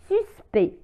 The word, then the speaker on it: suspect: مثال suspect suspect suspect لا تنطق لا لتر CT suspect وهو يعني مشبوه le suspect المشبوه.